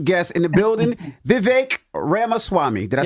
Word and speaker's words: Ramaswamy: in the building Vivek Rama Swami did I say it right that's actually pretty good it's better than most yeah it's like Rama Swami like CD-ROM but yeah what I